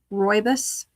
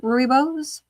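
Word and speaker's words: rooibos: Royus. How do you say it? Somebody write the phonetic spelling of that T. Ruibus. Ruibos. Yes.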